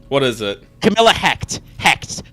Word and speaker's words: Hect: is it camilla hacked hect to rhyme with wrecked this is great more